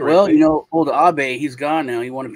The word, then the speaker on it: Abe: But President Abe, and then Japan, Prime Minister Abe, A-B-E, pronounced Abe. Abe. Yeah. Okay, what's Abe? Abe, but pronounced Japanese.